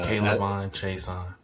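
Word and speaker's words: Kayvon Thibodeaux: That being said, we added Kayvon Chason, and I mispronounced his name last week. Leo Chanel. Didn't realize there was a Kayvon Chason.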